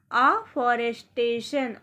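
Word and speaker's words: afforestation: Next देखिए, next word meaning है हमारी, देखिए अफॉरेस्टेशन, अफॉरेस्टेशन। अफॉरेस्टेशन को हम इजी तरीके से देखिए पढ़ेंगे। ए को आ पढ़ा जाएगा, F 2 बार है लेकिन उच्चारण इसका एक बार ही होगा, तो FORE को फॉर, FORE को फॉर पढ़ा जाएगा।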